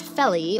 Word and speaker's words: Vellie: And a lot of people don't know this, but the Vellie, which in South Africa is actually pronounced Felly or Felskoon, is a very early shoe shape that was born in Southern Africa.